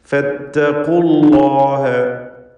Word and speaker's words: فاتقوا الله: ഫത്തഖുല്ലാഹ ഖാഫിന് തഫ്ഖീം കൊടുക്കണം. അതുപോലെ അല്ലാഹ് എന്ന ഇസ്മുൽ ജലാലയിലെ ലാമിനെയും തടിപ്പിച്ച് ഉച്ചരിക്കണം. ഫത്തഖുല്ലാഹ വഅതീഊൻ.